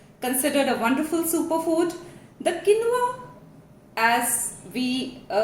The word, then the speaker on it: quinoa: It is not quinoa, it is quinoa. Quinoa.